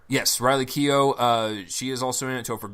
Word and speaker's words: Keough: Jimmy Simpson is in it Joel how you pronounce her last name Riley Riley Keough yes Riley Keough she is also a Topher Grace isn't it